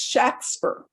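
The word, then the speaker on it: Shakspeare: way it's spelled it's shakspur okay there's no e after the k like shake it's it's spelled shakespeare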